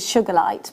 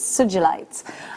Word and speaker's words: Sugilite: I bring to you Sugilite, which I've always pronounced it Sugilite, but it's Sugilite. I've just been told and I've just looked up.